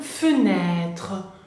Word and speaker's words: fenêtre: sobre la E francesa, bien, se va a pronunciar E, como la primera que vimos, bien, E. Entonces, por ejemplo, fenêtre.